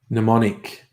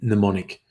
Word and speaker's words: mnemonic: to pronounce the end there's a silent M at the start and I keep wanting